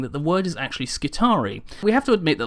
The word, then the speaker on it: Skitarii: are slightly different however the reason I've pronounced it skari is because there is a actual Roman legionary unit called the triari which I've learned about a long time ago and because the spelling is incredibly similar I've used that as